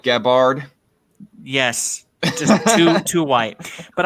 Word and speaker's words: Gabbard: It's just like anybody who pronounces Gabbard like Gabbard.